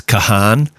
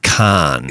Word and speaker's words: Kahan: So I think we blew it and said it's Kahan. Yeah. But it's actually Khan.